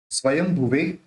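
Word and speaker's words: स्वयंभुवे: पहला अध्याय शुरू होगा स्वयं भवे नमस्तय देखिए य जो बिंदी है उस बिंदी का उच्चारण अपन य जो बिंदी है उस बिंदी का उच्चारण अपन म से करेंगे आप कहेंगे म से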